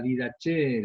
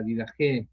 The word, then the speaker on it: Didaché: O la didaché, la didajé, depende cómo la pronunciara.